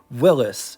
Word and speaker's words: Willys: Willis, not to get confused with Will St. Claire because they're two totally different companies and yes, Willis is how it's supposed to be pronounced.